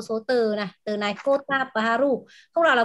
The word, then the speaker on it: Kota Baru: Từ này Kota Baru, không nào là Koto nhé các bạn nhé.